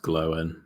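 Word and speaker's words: Glóin: okay Owen good uh GL um again it's pronounced glowen okay oh this guy sorry we I thought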